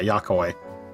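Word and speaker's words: Yok Huy: The big fellow is of the Yakoy. Wait, did I pronounce that correct? You told me how to pronounce that. Yeah, Yakoy.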